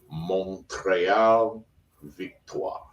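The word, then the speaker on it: Montréal Victoire: stay at Holiday Inn Express, but I believe, John, it is pronounced Montreal Victoire.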